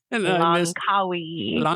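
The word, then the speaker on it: Langkawi: You had the pronunciation. Lancawi.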